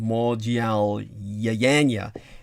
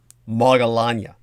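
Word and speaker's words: Maudgalyāyana: which the other way, if people can't pronounce this historical or legendary individual's name, Modyal Yayanya, which is more the proper Sanskrit, then the anglicization would be something like Moggallanya.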